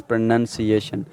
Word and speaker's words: pronunciation: as a noun if you say this word it's pronunciation.